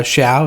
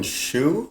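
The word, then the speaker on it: Shou: Uh it was starring uh Robin uh Shia. Is that how you say it? Robin Shia. Uh, I think it's Robin Shu. Robin Shu. I think Robin Shu.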